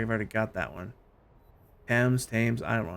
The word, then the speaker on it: Thames: Thames, I don't know how you pronounce it proper. I know it's a hard T.